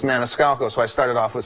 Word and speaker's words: Maniscalco: just one name one name no one could pronounce my last name it's Maniscalco so I started off with Sebastian and I